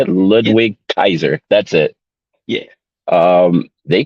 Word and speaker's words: Ludwig Kaiser: Kaiser is that that's how you say it Ludwig Kaiser that's it yeah um they killed it they